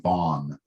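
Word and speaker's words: Vann: A man named Darren Dion Van, he pronounces his name Vaughn.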